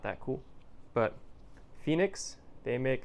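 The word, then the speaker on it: Fenix: or nothing because I'm not that cool but Phoenix they make it's spelled f-e-n-i-x they make great selections of headlamps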